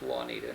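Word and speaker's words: Wanita: her name is Juanita. Now, it's spelled W-A-N-I-T-A, and her family is one of the older families in this area.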